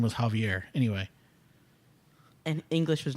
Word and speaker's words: Javier: He would pronounce it Javier, like caviar.